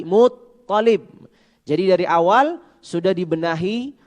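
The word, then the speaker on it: المطلب: Misalkan kakeknya Nabi tadi bukan Abdul Muttalib tapi Muttalib.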